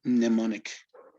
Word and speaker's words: mnemonic: investigated is that you you should ignore the m and call it mnemonic okay okay okay so